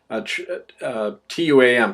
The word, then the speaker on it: Tuam: It's pronounced Chom, actually, in Irish. Tuam, Tuam, Ireland.